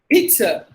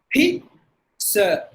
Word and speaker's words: pizza: Actually, Z spelling lyric. And now when it comes to pronunciation, you should not give any Z sound at all. Look at that. P. Sir. Pizza.